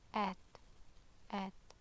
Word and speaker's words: ت: a bit of air, so it's not like the English T, okay? So at, okay?